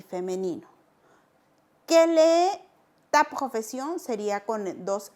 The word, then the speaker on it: quel: Igual de pronunciación, no digo quelles o quels, no, quel.